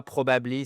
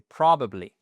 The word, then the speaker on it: probably: Méchiez-vous, je vous en supplie, c'est pas probablely, c'est pas non, c'est probably. Une fois que vous avez en fait le stress, la première syllabe, voyez que bam, on est votre stress ici qui est matérialisé par la matérialisé pardon par l'apostrophe.